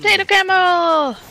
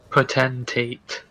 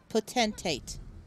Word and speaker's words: potentate: Until potato camel! Gengi, I know you can say it right if you try. Can I, though? She doesn't want to try. Potentate. Potentate.